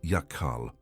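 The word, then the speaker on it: יחל: The Hebrew word is yakal. Pronounced ya-kal with the second syllable held at the back of the throat, you have encountered it before without knowing it.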